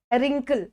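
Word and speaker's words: wrinkle: डब्लू का कोई यूज नहीं है, क्योंकि हमें डब्लू यहाँ पर यूज नहीं करना होता है। तो रिंकल हो गया, ये डब्लू साइलेंट रहता है।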